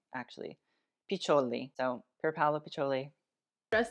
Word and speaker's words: Piccioli: Piccioli.